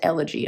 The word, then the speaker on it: Elegy: And another name I'll mispronounce, but it's another kitty ink pot, and it's phonetically elegy, but I'm pretty sure it's pronounced elegy of the fallen, like an elegy.